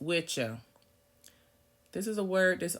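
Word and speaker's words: wicce: It's the phonetic spelling of witchse, W-I-C-C-E, pronounced witcha.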